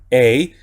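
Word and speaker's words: εἰ: Aquí tenemos combinación también de dos vocales, la vocal epsilon y la vocal iota, y se lee tal cual, ei.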